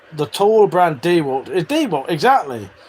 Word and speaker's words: DeWalt: The correct pronunciation of the tall brand DeWalt is DeWalt, exactly. With the emphasis on the first syllable. It is pronounced with a long E sound, like the word deep.